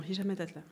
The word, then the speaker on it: Hicham Metatlat: Alors Hicham Metatlat, c'est bien, je prononce bien ton nom, Hicham Metatlat. Ouais, exactement. Tu es une des rares à bien le dire.